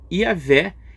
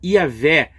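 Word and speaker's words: Yahweh: Bom, muitos eruditos reconhecem que o termo Yahé é um termo mais correto do que Jeová.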